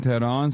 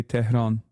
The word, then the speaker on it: Tehran: Stop saying the H in Tehran so heavily, we barely pronounce the H. Well, I'm Turkish, so I say Tehran.